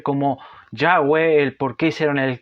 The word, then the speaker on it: Yahweh: En este caso acá no se nos nombra a Dios como Jehová, sino que se dice, se pronuncia como Yahweh, el por qué hicieron el cambio.